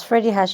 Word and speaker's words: Freddy Hirsch: So, I mean, maybe start out, just tell us, what is Freddy Hirsch and is that how you say it, Freddy Hirsch? Yes, Freddy Hirsch, you're saying it correctly.